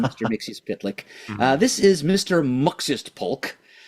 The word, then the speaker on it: Mxyztplk: This is Mr. Muxist Polk. The main difference is that his name is spelled MXYZTPLK instead of MXYZPTLK.